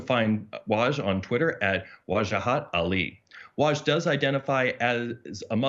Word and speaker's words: Wajahat: So if any of you viewers have questions for Waj, I think he said his mother pronounces it Wajahat.